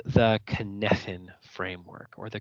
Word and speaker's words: Cynefin: So this is called the Cynefin framework, or the Cynefin framework. I know it's spelled Cynefin, but it's a Gaelic word that means place of multiple belongings.